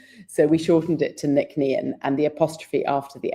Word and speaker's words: Nc'nean: a day, let alone ask anyone else to pronounce, type anything else. So, we shortened it to nickn and the apostrophe after the NC is meant